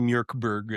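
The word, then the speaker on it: Mörk Borg: It's just heavy metal cartoony It's I believe it's actually Mirkberg is the way you're supposed to pronounce it in um a Doom Metal album of a game.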